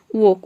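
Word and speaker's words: walk: वॉक में आप देख रहे हैं कि एल के बाद के आ रहा है। यहाँ पे हम एल को प्रोनाउंस नहीं कर रहे हैं। वॉक, वॉक मीन्स होता है टहलना।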